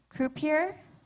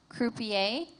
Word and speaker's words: croupier: Your word has three pronunciations, croupier, croupier, croupier.